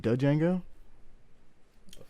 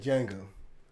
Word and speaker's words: Django: watched re-watch django oh don't you mean django the d is silent yo hello he said django how do you spell